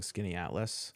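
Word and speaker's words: Skaneateles: Also, shout out to you for correctly pronouncing Skinny Atlas.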